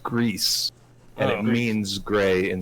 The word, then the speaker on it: Gris: uh on twitter from the creator it's pronounced grease and it means gray in spanish okay okay save because it's pronounced gree and means gray in french i think okay